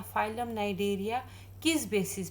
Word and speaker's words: Cnidaria: ठीक है, दूसरा नाम है नाइडेरिया, सी से स्टार्ट होता है, CNIDARIAS। नाइडेरिया सी साइलेंट है।